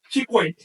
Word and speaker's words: chicuei: En algunas variantes modernas se dice chic chico y j en agua clásico chicuei.